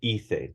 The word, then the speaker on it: hice: But the verb hacer, if you're in Spain, the common accent is with like a lisp. So you say hacer, yo hice, tú hiciste, él hizo. But you don't have to do that in Latin America. It just makes an S sound.